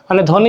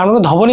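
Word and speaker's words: ধ্বনি: ধনি এইযে ধনি পড়তেছে এখন ধনি যে ব্যাপারটা ধনি ব কিন্তু উচ্চারণ ধবনি বলছি না ধনি ঠিক আছে স্বাধিকার এখানে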